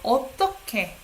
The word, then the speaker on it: 어떻게: 어떻게? You pronounce it sounds like K, right?